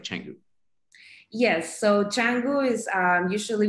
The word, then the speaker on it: Canggu: It's pronounced Canggu.